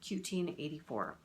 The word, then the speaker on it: 1Q84: My understanding is that you pronounce that Q-Teen84. So like 1984, Q-Teen84.